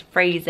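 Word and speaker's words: Frazer: spelling is another way then it's Fraser as in razor and it might be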